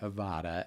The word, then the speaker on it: Avodah: I want to encourage them to do a search around a Hebrew word that's pronounced many different ways, but I pronounce it Avodah, A-V-O-D-A-H.